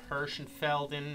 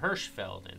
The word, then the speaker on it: Hirschfeldon: Murph here, back on Hirschfeldon. No, Hirschfeldon, that's how you say it.